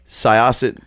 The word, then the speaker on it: Syosset: right we can shut the myself we're done Syosset New York yeah is how you pronounce me yes I um what was it